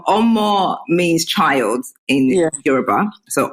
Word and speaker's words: Omo: So basically, Omo, although I'm saying it in the Oyibo way, Omo is how you pronounce it.